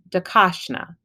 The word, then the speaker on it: DeCosta: okay so for example when I say my name decosta there is an emphasis on the second syllable that's a stress so